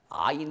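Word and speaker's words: عين: Alors, des sons gutturaux, c'est comme par exemple en arabe, aïn, vous voyez, aïn, ça prononce très bas dans la gorge, aïn.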